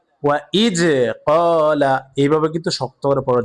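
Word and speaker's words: وَإِذْ قَالَ: ইদ ক্বালা ক ক ওয়া ইজ ক্বালা এইভাবে কিন্তু শক্ত করে পড়া যাবে না দাল সর্বদাই নরম ভাবে উচ্চারণ হবে ওয়া ইজ ক্বালা হবে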